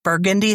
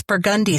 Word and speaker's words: Burgundy: It's not Burgundy Street. It's Burgundy Street. I did not know that.